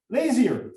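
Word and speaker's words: Lazear: Owen, how do you pronounce this? Laser or Because it's a family name, it's difficult for me to know. uh-huh. Lazier. Lazier. Okay.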